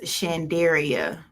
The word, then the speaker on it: Shanderia: no names okay yes my name is pronounced chandaria so shandera shandera all right and